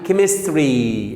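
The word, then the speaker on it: chemistry: وعندي كيمستري الكيمياء نفسها. كيمستري بص، كيمست ده CH بس خاصة بالكيمياء، أنطقها إيه بقى؟ ك. كيمستري.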